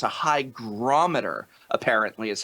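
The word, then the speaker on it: hygrometer: do in the uh video it's not a hydrometer it's a Hy grometer apparently is how it's pronounced H that's what people said hydrometer too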